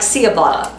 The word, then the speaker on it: ciabatta: ciabatta because it's spelled c-i-a-b-a-t-t-a which to me would be like ciabatta but apparently it's a ch sound ciabatta why don't they